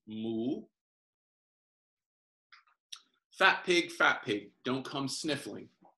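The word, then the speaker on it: หมู: And the Thai word for pig is mool. It almost sounds like this, what a cow would say, mool, M-O-O, but it's got an accent. So it goes mool.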